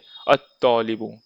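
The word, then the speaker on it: الطالب: जैसे यहाँ पढ़ेंगे अल मुदर्रिसु, अल बाबू, पर यह हम बोलेंगे अत्तौलिबु, यह अल नहीं पढ़ेंगे, यह बोलेंगे अत्तौलिबु।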